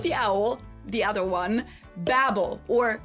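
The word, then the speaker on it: Babbel: Babel or Babel as it's pronounced in the original German because this company was also founded in Berlin, Germany in 2007.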